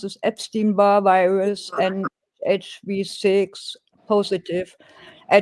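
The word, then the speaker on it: Epstein-Barr: I ordered tests for herpus viruses for example ep how do you pronounce this? Epstein bar virus and HV6 positive.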